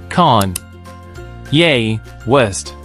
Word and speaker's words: Kanye West: and fashion designer now let's break down his name's pronunciation con yay West repeat after me con